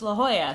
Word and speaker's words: La Jolla: Like saying La Jolla instead of La Jolla. So you would say, oh, it's pronounced La Jolla, so people know what you're talking about.